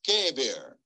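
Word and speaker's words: qeber: a different Hebrew word in English lettering q-e-b-e-r pronounced kevir now you find Kabir in the singular and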